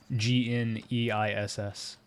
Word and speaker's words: Gneiss: Oh, it's pronounced Gneiss.